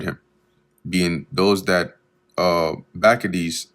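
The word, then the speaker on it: Bacchides: being those that uh Bakades which that's the actual correct pronunciation. I looked it up.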